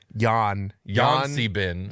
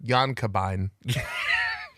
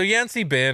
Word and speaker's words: Yan-C-Bin: I checked all the pronunciation guides that I could find, and also just looking at it, I don't know how else you could pronounce it. Yan Si Bin. Okay, Yan- that's fair. Yan Kabine. I just try to say them all so people don't get so mad. So Yan Si Bin, or Yan Si